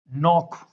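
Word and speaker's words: knock: एन से पहले हम के को नहीं बोलते हैं। यहाँ क्या वर्ड हो गया? Knife, नॉक। सिर्फ एन का साउंड आएगा, के का नहीं आएगा।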